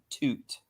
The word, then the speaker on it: Tut: King Tut yes yeah actually his real name was not King Tut they mispronounced it his real name was King Toot no it was no it was toot toot in common it was too uncommon his name was toot not Tut toot attacked dude it's